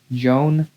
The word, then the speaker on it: Joan: Joan. But I know the J is like an H in Spanish.